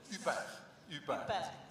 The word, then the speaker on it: HUPR: UPER. Comme Isabelle Huppert, mais pas d'Isabelle.